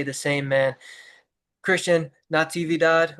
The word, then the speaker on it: Natividad: Christian Natividad, right? That's how you pronounce Natividad.